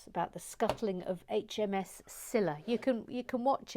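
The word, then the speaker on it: Scylla: program about it about the scuttling of hms cilla you can you can watch it yourself sila is spelled c s c y l l a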